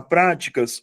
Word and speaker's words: práticas: Se eu pegar práticas, olha a diferença. Práticas passa a ter como sílaba tônica a antepenúltima sílaba.